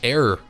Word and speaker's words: 404: 404 Game Reset, pronounced Error Game Reset, is a brand new